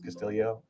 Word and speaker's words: Castillo: at is Ricky Castillo, even though it's spelled Castillo, it's Castillo, or at least that's how they pronounce it on the golf podcasts.